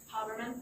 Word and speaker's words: Haberman: Is it Ms. Haberman? Yes. I want to say it right. Haberman? Yes. So when you arrived, and